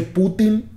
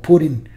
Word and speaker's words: Putin: pronunciación en inglés que más que Putin como lo pronunciamos en español en inglés lo pronuncian algo así como Putin y Putin o sea ustedes saben